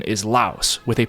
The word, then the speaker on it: Laos: and the country name I will stick with the pronunciation of this country as La so just to recap it will be the country of LA and let's say we're